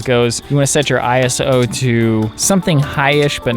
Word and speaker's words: ISO: It's actually pronounced ISO. I always say ISO though.